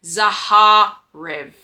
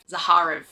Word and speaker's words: Zahar: So, his name is Zaharv. Zahar. There we go.